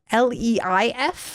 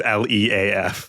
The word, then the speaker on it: Leaf: Is it kind of like Leif? Like, is it like a Scandinavian name? Unfortunately, it is spelled, unfortunately, fortunately, whatever side of this debate you land on, it is Leaf, leaf, like all the trees.